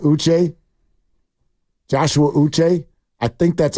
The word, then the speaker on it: Uche: It's pronounced Uche.